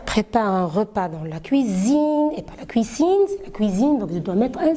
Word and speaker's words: cuisine: france le maire prépare un repas dans la cuisine cuisine cuisine de mettre un seul s entraîner de loyer pour pouvoir prononcer cuisine et voilà on est arrivé la